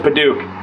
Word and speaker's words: padauk: little bougie and use padauk padauk i pronounce it padauk if you pronounce it any other way you're wrong probably move those screws